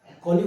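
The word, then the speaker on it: colleague: कोग कोलीग होते हैं हमारे ऑफिस में होते हैं स्कूल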